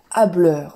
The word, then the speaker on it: hâbleur: troisième mot pour aujourd'hui c'est l'adjectif hâbleur donc il y a un h aspiré je vous donne un